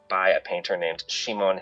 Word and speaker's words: Simon: One because it's by a painter named Shimon Heloi um or Simon if we want to pronounce it. Um uh in English um Shimon was the